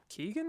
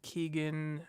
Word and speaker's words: Keoghan: I think they've only announced 2 actors, Paul Mescal and Barry Keoghan, I believe his name is pronounced. It's Irish. It has a lot of G's and H's.